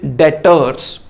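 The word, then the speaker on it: debtors: पर भी कोई नहीं इसको डायरेक्टर्स बोलते हैं बेवर्ड साइलेंट है डर नहीं बोलते डेटर्स कैश विड्रा गया और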